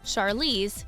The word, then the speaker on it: Charlize: Charlize, not like Charlie, but like Charlotte.